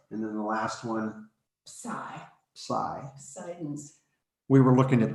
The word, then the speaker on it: psi: greek and i and you almost don't say the p the p almost kind of disappears when you say it um yeah this yes